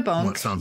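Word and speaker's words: banc: So the bonk bit is actually from the French bonk, B-A-N-C, although it is spelt as in the rude version of bonking.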